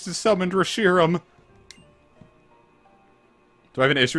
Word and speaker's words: Reshiram: know I am wrong about cuz the official pronunciation is Reshiram but I will never prance it like that